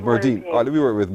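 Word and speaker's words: Merdene: Wait, Merdina? No, not A. Merdine. It's pronounced Merdine.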